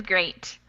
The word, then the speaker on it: great: great yeah it is great great is a little different it doesn't have that e sound it has more of an a yeah exactly great awesome